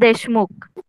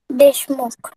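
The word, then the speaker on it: Deshmukh: एम यु के एन एस के एच एस देशमुख काय pronunciation आहे त्याचं देशमुख देशमुख हां व्हेरी गुड माईक ऑफ करा तर सगळ्यांना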